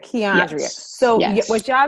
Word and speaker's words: Quiandria: Quiandria. Quiandria.